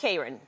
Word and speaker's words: Kron: Am I saying it right, by the way, Kron? It's Kron.